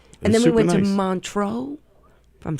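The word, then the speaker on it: Montreux: And then we went to Montro, if I'm saying it right.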